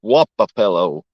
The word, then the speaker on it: Wapapello: That's not how you spell it, but it's Wapapello.